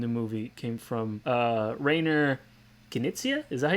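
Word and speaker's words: Rainer Knizia: movie came from uh rainer kinicia is that he's pronounced his name reiner kenicia yeah writer reiner connicia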